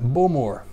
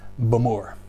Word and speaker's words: Bowmore: I would used to have called that Bowmore, but it's Bowmore. A little bit quicker, Bowmore.